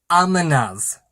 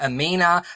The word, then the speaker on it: Amina: And then I found out I've been saying the name wrong, so I apologize. This book is correctly pronounced as Amina's Voice. And I am so sorry that I've been calling her Amina, because I've been hearing her name is Amina, but it's not.